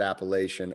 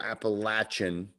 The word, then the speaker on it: Appalachian: He says you can pronounce it Appalachian or Appalachian, the Appalachian Mountains.